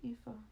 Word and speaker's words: Aoife: His daughter's name is Aoife. Oh, I like the name Aoife. That's cute. Of course, it's spelled with a Z, but How do you spell Aoife with a...